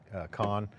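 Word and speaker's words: Kohn: He's like, John, it's Kahn, not Cone.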